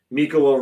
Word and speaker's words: Mikkola: Mikkola rhymes with Ricola, and yeah, he should be on the 3rd defensive pairing.